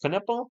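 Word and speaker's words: Knueppel: is that wow yes con nipple I believe it's pronounced K nipple somebody mentioned it's K and then female body part well guys have this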